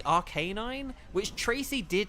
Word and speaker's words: Arcanine: I mean, take Arcanine. We all say Arcanine, but it is, like... It should be Arcanine, which Tracy did say